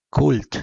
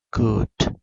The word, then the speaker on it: could: si se dan cuenta hay una letra muda acá Cuál es l Así es la l no no se pronuncia cult sino c could entonces sus respuestas también